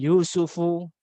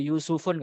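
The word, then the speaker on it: يوسفُ: Kemudian Yusufu, nggak boleh Yusufun, nggak boleh. Kalau ada orang ngomong soal-soal pakai bahasa Arab, kemudian dia tanwinkan itu Maryamun, pernah mengatakan gitu, atau Yusufun adalah sosok ya, berarti dia nggak belajar bahasa Arab gitu kan. Karena nama-nama ini adalah nama-nama yang al-ismul ladzi la yansarif yang tidak menerima tanwin.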